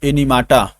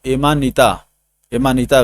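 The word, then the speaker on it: Amanita: अब देखिए एनिमाटा। एनिमाटा क्या है दोस्तों? एनिमाटा इज ए टॉक्सिक मशरूम। एनिमाटा देखिए एमानिटा कर रहा है, गलत प्रोनाउंस हो रहा था।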